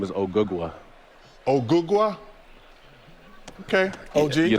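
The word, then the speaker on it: Ogugua: My real name is Ogugwa.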